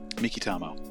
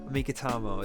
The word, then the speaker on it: Meikitamo: How do you say that? Mikitamo. Meikitamo. It's Japanese.